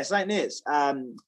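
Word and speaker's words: St Neots: Are you from the St. Neots, England? Is that how you say it? Yeah, St. Neots.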